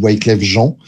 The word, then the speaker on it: Wyclef Jean: Michel, Lauryn Hill et Wyclef Jean, ou Wyclef Jean. À partir du moment où c'est un nom français, on a le droit de le prononcer comme ça, même si ça fait hyper bizarre.